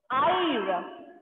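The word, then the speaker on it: haïr: L'autre exemple, c'est ire. Ire. Ire. Here also, H will be silent. Ire. Ire means to hate. To hate. Ire.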